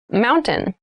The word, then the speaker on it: mountain: The t sound is reduced.